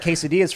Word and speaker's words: quesadilla: That's why I don't like quesadillas for that reason, because it's too much cheese and nothing else.